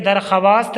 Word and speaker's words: दरख्वास्त: देखिए दरख्वास्त लिखा जाता है लेकिन दरख्वास्त पढ़िएगा, वाव की आवाज़ साइलेंट रहेगी।